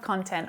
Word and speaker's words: content: So when it's used as an adjective, the syllable stress shifts to the second syllable, and the first syllable reduces right down, so the vowel sound becomes a schwa.